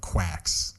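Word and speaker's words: GQuuuuuuX: It's called uh Mobile Suit Gundam Quacks is how it's pronounced.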